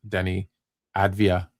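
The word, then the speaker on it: Deni Avdija: So I said, fine, let's watch Denny Advia and see what he can do.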